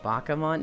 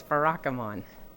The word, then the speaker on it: Barakamon: really really hard bakaman no it's barakamon stencil said it right